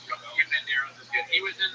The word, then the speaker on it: Banderas: Let's drop a syllable. Banderos. Banderas is good.